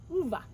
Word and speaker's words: Ove: his name Hove, but if you've ever read the book, A Man Called Ove, it's not Ove, it's Uva.